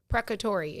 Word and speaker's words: precatory: It's spelled Precatory. Precatory is how you pronounce that word.